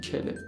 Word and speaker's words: quel: ولی تلفظش همشون کله. یعنی میگم کل، کل، کل، کل. هیچ کدومش کله نیست بچه. همه تلفظها کل ولی توی دیکته با هم متفاوت نوشته میشن.